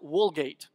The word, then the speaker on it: Vulgate: point is though that in Latin you pronounce the v's with a W so back here to the Vulgate that would really be pronounced woolgate it's like that old